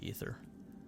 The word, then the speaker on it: Aether: AETHER is how it's spelled. It's pronounced ether.